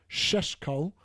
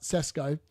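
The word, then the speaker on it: Šeško: We all know that even though we've signed, and apparently it's pronounced Sheshko, not Sesko, not Tesco.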